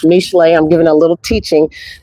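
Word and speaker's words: משלי: Now, before we start with Proverbs chapter 12, which is actually pronounced Mishle, I'm giving a little teaching.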